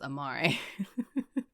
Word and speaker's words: Amari: Okay, I have been saying it wrong. It's Amari.